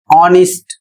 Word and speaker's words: honest: नेक्स्ट word है एच ओ एन ई एस टी और इसका सही उच्चारण होगा ऑनेस्ट।